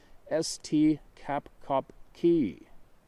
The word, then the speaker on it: Esti Kapkaki: To the Seminoles, they are known as Esti Kapkaki, pronounced St Kapkopki, the tall man.